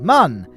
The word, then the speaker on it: Mun: But speaking of moon, here we are in orbit of Kerbin's closest moon, Mun. No, it's not pronounced moon. Everyone think, oh, it's actually pronounced moon because of the umlaut, but the umlaut is